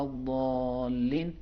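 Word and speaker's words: الضالين: دالین اور زالین باریک ادا کرنا غلط ہے. لیکن اگر ہم پڑھتے ہیں غیر المغضوب علیہم ولا الضالین موٹا دال کے لہجے میں، تو یہ بھی عربی لہجے میں ٹھیک ہے.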